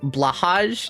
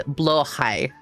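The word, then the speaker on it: Blåhaj: Thought it was pronounced blahage. No, it's blai.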